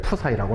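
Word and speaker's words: ψ: 얘를 푸사이라고 읽어주시면 돼요.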